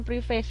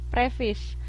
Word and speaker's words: preface: dari kata pengantar atau prefis bacanya bukan preface ya prefis Nah kemudian satu hal